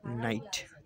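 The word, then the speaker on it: knight: উচ্চারণ হবে নদন্ত হবে এক্ষেত্রে কে অর্থাৎ উচ্চারণ হবে না মানে অনুচারিত থাকবে যেমন উদাহরণ ফলো করো নলেজ যেমন জ্ঞান নাইট যেমন অশ্ব নি মানে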